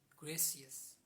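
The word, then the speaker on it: gracias: यू O thank you Spanish we call it ग्रेसियस ग्रेसियस ग्रेसियस spelling of ग्रेसियस इज जी आर आर ए सी आई एस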